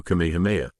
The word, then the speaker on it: Kamehameha: It's also Kamehameha, not whatever you just said, Goku corrected.